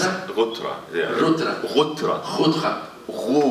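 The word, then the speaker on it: غترة: In wintertime we wear colored, and this is called gutra. And actually it's the gutra, yeah.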